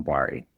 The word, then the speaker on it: Bari: Bori? How do you pronounce his last name? Yeah, Calvin Bari. Bari, okay.